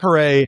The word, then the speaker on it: Paré: So Matt, he tells people how to pronounce his last name by saying it's like hip hip hooray. Hip hip hooray. Right. Yeah. So Matt Paré is really a remarkable